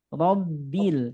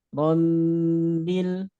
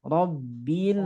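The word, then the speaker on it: رَبِّ: Robbil, jangan sampai rombil, nah, tapi cukup tekan aja. Robbil alamin.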